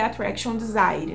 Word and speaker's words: Attraction Desire: Eu falei lá no Instagram Attraction Desire, mas se eu não me engano, a pronúncia correta é Attraction Desire, né? Do inglês mesmo e não do francês.